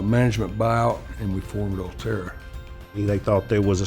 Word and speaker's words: Ulterra: Number one, nobody could say the name, pronounce the name, Ulterra. We heard Ulterra, Ultra, yeah, about every type spin you could have for the name is what we heard.